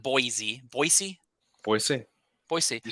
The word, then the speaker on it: Boise: I do have a guest with me today, Anthony Boyd Remodeling and Construction, out in beautiful Boise, not Boise, Boise, Boise.